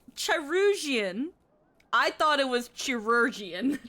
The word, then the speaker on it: chirurgeon: But it's imperative we get him inside and into the care of a Chirurgeon without delay.